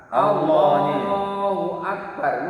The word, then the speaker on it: Allahu Akbar: Allahu Akbar. Misalnya kita membacanya Allahu berarti menambahi wawu mati itu.